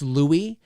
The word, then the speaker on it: Louie: for me is that do you remember when i i wasn't pronouncing it right sort of when you first started to watch and and chat in the chat room and then he said no no it's louie i was like oh